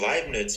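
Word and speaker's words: Leibniz: to this is Oh you mean live nits but you just pronounce his name so badly yeah I mean I'm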